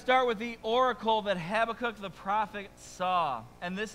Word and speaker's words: Habakkuk: you say the name I say habac because that's the first way that I learned it some people call him habac right uh or if you want to get super Hebrew and impress your friends that's havakuk that's how you say it okay so uh